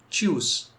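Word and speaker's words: Tschüss: जैसे कि जो वर्ड मैंने लिखा है इसको हम प्रोनाउंस करते हैं च्यूस, च्यूस, या फिर चाओ, चाओ।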